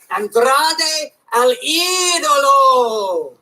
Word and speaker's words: Andrade El Idolo: No, you gotta roll your R's. It's Andrade El Idolo. like that. I love it when you get juice purring. No, boys, it's Andrade El Idolo.